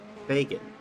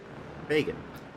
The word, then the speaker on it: Fagan: Andrew Fagan, like rhymes with pagan. Fagan.